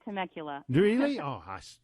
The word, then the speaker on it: Temecula: How do you? You said it perfectly. Temecula.